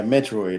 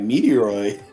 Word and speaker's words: Metroid: Metroid, maybe it's Metroid. That's mispronounced. Yeah, Metroid. I'm like Meteoroid.